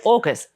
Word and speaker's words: AUKUS: Um so Orcus A u K us is how it's spelled but in Instagrammer will always correct to orcus as in killer whale. Um, it's definitely August. A for Australia, UK for United Kingdom, US for United States.